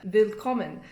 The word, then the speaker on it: willkommen: So Wochenende, willkommen, it's all with the V sound.